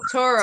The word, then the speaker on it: Turo: you can Churro, literally, that rhymes with and- churro? Yes. yeah, Churro. Turo. T-O. So Turo.